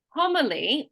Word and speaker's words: homily: that we say so if the word is homily we're going to emphasize that first syllable okay I'm going to